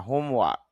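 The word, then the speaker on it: homework: Exam পরীক্ষা, finish শেষ করা, হোমওয়ার্ক এখানে র সাউন্ডটা হবে না, হোমওয়ার্ক বাড়ির কাজ। যদিও আমরা বলে থাকি তবে শুদ্ধ উচ্চারণ ধরলে র সাউন্ড উচ্চারিত হবে না।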